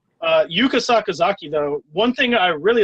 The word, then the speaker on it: Yuka Sakazaki: Um but yeah, Penelopey Ford is next versus Yuka Sakazaki.